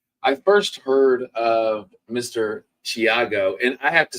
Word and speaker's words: Thiago: a th sound and I was so glad that I did my research because it's not now that's the Brazilian